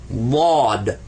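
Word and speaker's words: ضاد: mouth a funny way, but most people that don't know Arabic, when they pronounce it, they just pronounce another D. But it's not. It's actually Bod.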